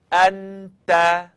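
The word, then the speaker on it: أنت: Now let's try one together. Anta, anta, anta. Now, if you were saying it wrong, you'd hear something like anta.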